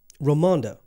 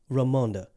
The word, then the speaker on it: Ramonda: what did you just did you just say her name wrong I apologize romondo ramonda I said it right okay a little